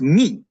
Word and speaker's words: mu: not pronounce this letter mu this is the mathematical English way of pronouncing the letter mu in Greek this is this letter is pronounced me but but we're we're